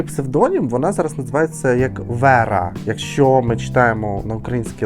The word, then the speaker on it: Вера: в неї новий псевдонім вона зараз називається як Вера якщо ми читаємо на українській лад Так то Воно читається як Вера правильно хоча чому не Віра Вера тобто Вера